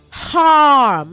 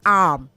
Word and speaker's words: harm: Say harm, not arm. You have to enunciate the H in harm.